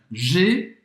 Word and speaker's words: J'ai: Então, G, presta atenção nesta pronúncia, tá? Vai ser o J apóstrofo AI, significa eu tenho. J'ai. Porque muita gente confunde com a pronúncia de eu, né? O pronome eu em francês. Je, eu, j'ai, eu tenho.